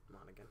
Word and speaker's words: Monaghan: Now, what got me thinking about this is actor Cameron Mohannigan, I don't know how to pronounce his last Monaghan. name. Monaghan.